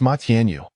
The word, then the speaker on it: Ma Tianyu: It's Ma Tianyu. He corrected, enunciating each syllable.